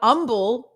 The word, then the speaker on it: Humble: pronounce the h now humble yes we have a town here called humble and it is spelt with an h and you don't say the h that when we do